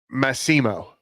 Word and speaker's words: Massimo: Is it I'm going to tell you right now, it's Massimo, because Massimo. Mo was with me on Friday. yeah. And when he had his point, on Friday. Yeah. With Mitchkov's goal, he's screaming, "You said it wrong! It's the same way you say my name."